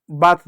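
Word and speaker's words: bath: शब्द देखो और भी जैसे बात देख लो ए के बाद टी एच है तो ए का उच्चारण आ के रूप में हुआ जबकि यहां पर ऐ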